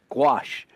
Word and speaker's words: gouache: you a little heads-up it's gouache pure and simple wash and it's a water-based